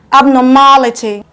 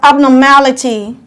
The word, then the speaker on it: abnormality: syllable from the ending examples are abnormality counting from the back we have abnormality one two three the third syllable receive the loudest stress so you go abnormality stress in your mouth louder than the other syllables here we have